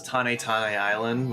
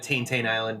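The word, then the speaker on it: Tanetane Island: So people pronounce this Tane Tane Island, which is probably the Japanese correct way to say it, but Chugga said it Tain Tain Island back then, so that's just what I call it.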